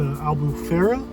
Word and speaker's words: Albufeira: gonna go down to the southern coast, to Albufeira, that's how you pronounce it, to Algarve.